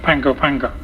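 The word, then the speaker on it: Pago Pago: p a o p a o but it's pronounced Pango panga um and um that's the base when I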